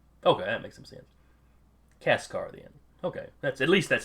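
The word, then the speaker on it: Kaçkar: I'm going to pronounce it Kekar, and I am sure I'm saying that C wrong because there's a squiggle mark.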